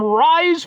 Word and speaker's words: RYSE: And that's because, folks, it happens to be boom, it's from Rise Fuel. But see, it it's it's spelled like a '9s comic book where it's it just doesn't make any sense.